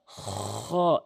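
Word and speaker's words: خاء: হা এভাবে উচ্চারণ করবেন এরপরে আসুন খ এভাবে আমার সাউন্ডটি আশা করি শুনতে পেরেছেন। খ জিহ্বার হলকের হলকের শেষ থেকে হলকের শেষ থেকে খ এভাবে উচ্চারণ করবেন তাহলে আপনার অশুদ্ধ তেলাওয়াত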